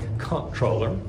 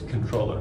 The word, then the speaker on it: comptroller: And it looks like comptroller, and Americans will pronounce it that way, but if you pronounce it with correct French, it's here it's controller.